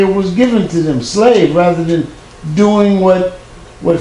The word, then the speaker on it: Slav: what you call English to wear Slav not slave slaves that Miss nomer based on a mispronunciation because these people could not say ah and they actually spoke with the Germanic and they say a and so it came out slave Negroes who do not